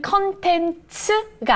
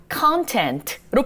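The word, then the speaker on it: content: 만들어서 제작하는 사람이라고 해서요 사실은 컨텐츠가 아니라 contant로 발음하셔야 됩니다 그리고 이걸 만드는 사람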